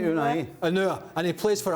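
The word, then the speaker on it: Ounahi: Now, my pronunciation here might not be perfect, but Unua, number 8 from Morocco. Nadim Unua? No. Jules, help me out. Help me out. Unai. Yeah. Unai. All right, I got it wrong.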